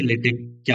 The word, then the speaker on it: LaTeX: बट जिसका correct pronounce है वो है एल ई वाई ले टी ई सी H take ले टेक इसको क्या प्रोनाउंस करेंगे लेटेस्ट तो इसका करेक्ट प्रोनाउंस हुआ लेटे तो इंस्टेंट ऑफ़ सेइंग लेटेक्स हम इसको बोलेंगे लेटेक चलो एक बार इसकी